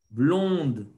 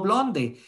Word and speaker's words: blonde: ¿Por qué decimos blond y no blonde? Ah, ok, chicos, es que recordemos que en francés la E final no se pronuncia pa. Blon, blon. Uh-huh.